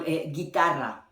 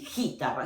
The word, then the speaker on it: guitarra: Okay, in guitarra, you see that the U does not exist. And it's still like G, I. Okay, because when you want, then the phonetically sound need to be G, it need to be the U between, and the U is silence.